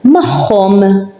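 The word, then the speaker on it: magħhom: So we pronounce it as a h, mahom, with them. Mahom means with them. As you can hear it, h, mahom, tahom, theirs.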